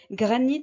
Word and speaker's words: granit: Granit finit par IT, nous n'avons pas de E. Le T sonne sans avoir besoin d'une voyelle après.